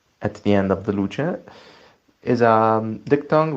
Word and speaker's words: luce: Luce would be light. That's wrong. That would be luce, like that CE at the end of the luce is a diphthong like cherry.